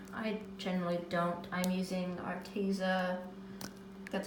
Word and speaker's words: Arteza: I'm using Arteza, that's how you pronounce it, watercolor markers.